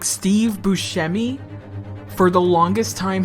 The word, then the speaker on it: Buscemi: themselves like steve buscemi for the longest time his family actually pronounced his name steve buscemi but then he went to fricken italy and the italians said steve buscemi so who cares